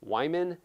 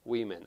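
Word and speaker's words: Wieman: And in the podcast, I say Wyman. And let me spell the last name for you. It's W-I-E-M-A-N. I know that it's pronounced Weeman.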